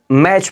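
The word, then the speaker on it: match: पढ़ते हैं याद रखिएगा अगला है देखिए टी सी ह क्या है चा आया हुआ है तो टी हमारा बिल्कुल साइलेंट हो जाता है क्यों क्योंकि टी सी ह है तो ये टी साइलेंट हो जाता है तो इसको क्या पढ़ते हैं मैच पढ़ते हैं याद रखिएगा यहां पर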